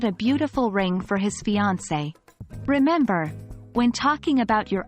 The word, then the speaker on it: fiancée: accent mark on the letter e it is pronounced as fiancee let's look at some example sentences to understand